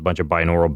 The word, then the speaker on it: binaural: And is it binaural or binary?